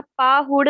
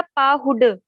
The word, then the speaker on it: पाहुड: दीदी उच्चारण में एक अक्षर का उच्चारण पूछना था, पाहुड़ या पाहुड? पाहुड, ड रानी, ड पाहुड प्राप्त।